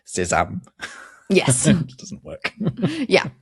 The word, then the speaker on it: sésame: You can scotch that quite easily by pointing out that sesame in French is pronounced sésame.